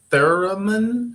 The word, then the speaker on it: theremin: And of course, the theremin, how do you pronounce it?